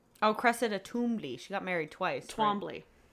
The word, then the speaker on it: Twombly: No, she's Twombly. Oh, Cressida Toombly. She got married twice. Twombly. Right? I thought it was Toombly. Twombly. They pronounce it Toombly in the audiobook.